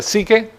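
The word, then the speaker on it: ψυχή: Está la palabra psuke, que se pronuncia psique en español.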